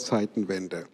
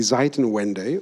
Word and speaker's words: Zeitenwende: man schon daran merkt, dass er im Englischen meistens in Deutsch ausgesprochen wird. Change of Times, Change of Eras oder Epochs sagt kein Mensch. Man sagt dann irgendwie Zeitenwende oder irgendwie sowas.